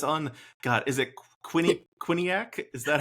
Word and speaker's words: Quinnipiac: Uh, for folks who It's on God, is it Quinn Quinniac? Is that how you pronounce it? Quinnipiac.